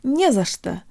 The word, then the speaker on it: не за что: to pronounce the phrase "nie za что," or don't mention it. Although there are 3 little words in this phrase, it functions just like a single word, with only one stressed syllable, nie.